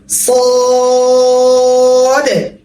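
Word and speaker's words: صاد: তারপর আসে আবার 3 আলিফ টান, সদ, মোটা হবে, স, স। জিহ্বার আগা সামনের নিচের পেটে, দাঁতের পেটে লাগবে, সদ, সদ।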